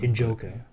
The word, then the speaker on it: Njoku: I can't trade pronounce his him name. Njoku.